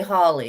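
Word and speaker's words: Holle: it was Mother Holly well I say Holly it's h o l l e I don't know if other people pronounce it different or not um but in the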